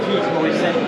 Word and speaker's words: Morisset: You don't pronounce the T, Morisset.